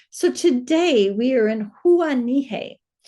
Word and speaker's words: Huahine: I know I said it wrong at the end of the last video and I said, watch this. It's going to be Kathleen's wrong pronunciation. And I looked it up and it is Huahine.